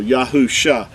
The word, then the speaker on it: Yahusha: there at the beginning it makes the yah sound so yahusha that was Joshua's original